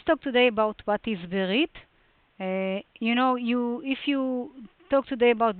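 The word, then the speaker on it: ברית: Modern Israeli pronunciation would be something like Brit. Very fast, like silent Sheva, Brit, but biblical Berit.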